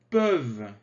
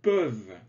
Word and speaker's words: peuvent: Nous pouvons, vous pouvez, ils peuvent, peuvent. Attention, le ENT ne se prononce pas. Ils peuvent.